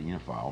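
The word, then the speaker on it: oenophile: He is also an economics professor at Princeton University, an onophile, correct? Is that how you pronounce it? Or I say uniophile.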